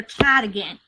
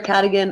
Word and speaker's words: Cadogan: I think it's pronounced Sir Cadigan. I've always heard it Sir Cadogan. I've always said Cadigan. Woo! Yeah, Sir Cadogan or Cadogan is the correct answer.